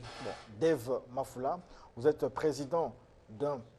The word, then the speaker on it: Dave: Bah, ça s'écrit Dave, ça se lit Dev. Bon, Dev Mafoula, vous êtes président d'un parti politique, les souverainistes.